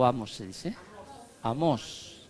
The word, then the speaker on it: Amós: Amós, con acento a la primera vez. Amós, sí, acento en la O dice, ¿no?